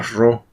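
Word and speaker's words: rho: con la letra Esta esta letra griega que no es una p sino se llama ro Bueno entonces depende de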